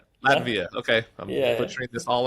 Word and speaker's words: Latvia: Um in Lati Lativa almost Latvia. Latvia.